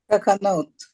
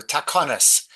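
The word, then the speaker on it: תקנות: Yeah, firstly, it's takanot would be modern Hebrew. Takonis is the takonis.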